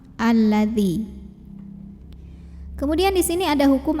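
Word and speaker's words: الذي: Jadi bacanya selalu a ya kalau ada hamzah wasol yang depannya lam. Alladzi.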